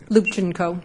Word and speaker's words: Lubchenco: Lubchenco, am I pronouncing it correctly? Lubchenco.